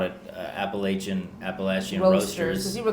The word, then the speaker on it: Appalachian: And then found out that Appalachian Roasters, it's really, I call it Appalachian Roasters, but the correct pronunciation is Appalachian.